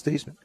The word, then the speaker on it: Theismann: Just how do you pronounce it?" He said, "Thiesman." Hung the phone up, turned to Roger. I said, "Raj, my last name is Thiesman."